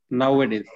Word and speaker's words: nowadays: Nowadays. The stress is on the first syllable.